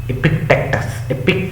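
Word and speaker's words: Epictetus: Come on, listing एक एपिक्टेटस, अब मुझे याद आ गया क्योंकि मैंने गलत प्रोनाउंस किया था। एपिक्टेटस।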